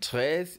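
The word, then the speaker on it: treize: And tres is spelled T R E I Z E.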